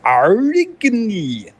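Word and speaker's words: Aurigny: That's not unpronounceable, it's Arigny.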